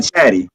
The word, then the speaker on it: chatty: I spell it with T's, but I say it with D's, by the way. It's definitely chatty, but that's spelled chatty.